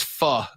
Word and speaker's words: pho: That's pho, by the way. I've heard it pronounced faux.